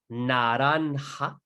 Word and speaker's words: naranja: N, such as la naranja. La naranja. You say it as well. La naranja. Naranja, as you can see, has a J over here, and that is pronounced like a ha, right?